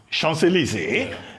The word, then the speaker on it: Champs-Élysées: They went through the Avenue des Champs-Élysées. That's how it's pronounced.